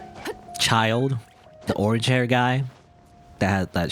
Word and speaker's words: Childe: gonna keep i'm gonna i'm gonna say chill day like i can't say a child it makes no sense to me even though that's how you're supposed to pronounce his name a child the orange hair guy